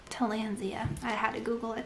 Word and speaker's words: Tillandsia: And then, how did I pronounce this one? Tillandsia? Tillandsia.